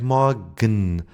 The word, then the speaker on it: morgen: For example, in morgen. When the E becomes silent, it would be something like morgen.